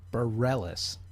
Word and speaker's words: Bareilles: Okay, for the record, Sarah's last name is pronounced Bareilles. It's Sarah Bareilles.